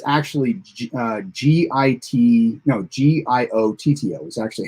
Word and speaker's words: Giotto: was weird because like shatner pronounced his name or at least the way i heard it he pronounced it like three or four different times i actually thought at what time at one time it was jojo like mojo jojo um so they have